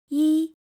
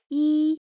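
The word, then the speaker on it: 一: When E comes before a non-falling word, it sounds falling.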